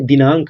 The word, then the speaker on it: दिनांक: उसके लिए ए लगाएंगे फिर यहां पर बिंदी है इसका भी तो उच्चारण हो रहा है दिनांक अंक ठीक इसका भी